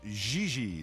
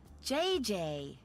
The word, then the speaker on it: Gigi: En français, you pronounce G like now we have J this again. and Oh my J God. like G. She may very well be JJ in America, but in France, she is Gigi.